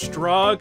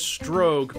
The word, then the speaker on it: Strogg: Make sure to pronounce Strog as Strogue because someone will bitch about it in the comments.